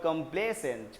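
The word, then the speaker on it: complacent: Pronunciation भी देखना, इसको क्या बोलते हैं, कंप्लेजेंट और कंप्लेसेंट।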